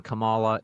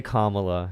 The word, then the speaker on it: Kamala: every time just say Kamala just say it it's easier to say Kamala Kamala doesn't even sound good comma flows right off the tongue just say it right